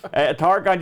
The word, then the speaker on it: Targhan: Now that's spelled with a Han, as in Targhan, Targon.